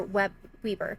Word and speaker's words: Weber: It is a beautiful fall day here in South Weber, Utah, or Weber. Yeah, South Weber. I always have to think about it because it's spelled like Weber.